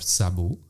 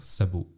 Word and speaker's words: Szabó: Je peux faire attention quand on prononce. Enfin, il y a toujours le Z un peu derrière le Ouais, S. ça c'est galère parce qu'en polonais, je crois que quand il y a SZ, ça se prononce che, et en hongrois, c'est exactement l'inverse. Le S se prononce che, le SZ se prononce S.